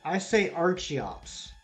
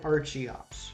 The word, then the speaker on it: Archeops: Uh, okay, I say Archeops. I say Archon and Archeops. I do the CH like an arch.